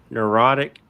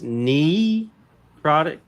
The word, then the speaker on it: necrotic: So it's necrotic, not necrotic. It doesn't matter whether it's knee or nut, but I didn't hear